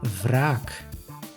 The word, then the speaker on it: wraak: In this case, you pronounce the W as V, V, like in wraak.